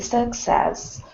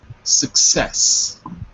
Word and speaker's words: success: Okay, I think the success of his first film has gone to his head. He thinks he's wonderful. Very good. Repeat after me. Success. Success. Right. Not success, but success on the second syllable.